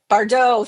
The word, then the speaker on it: Bardot: Bardot. Thank you. Yes, that Yeah, is the that's it. correct I had pronunciation to of hear that you say it word.